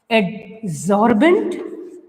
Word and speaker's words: adsorbent: Adsorbent, it pronunciated as the solvent, right? The ENT is common in the spellings as well in their pronunciation also.